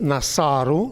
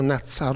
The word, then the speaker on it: Nasaru: Other frequent elements incorporated in Assyrian personal names were the expressions Nadanu, to give, Nasaru, as it's pronounced Nasaru, no Natsaru, Nasaru, to protect, and the word Sharu, king.